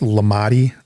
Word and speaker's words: Lamade: It's spelled Lamade and pronounced Lamade Stadium.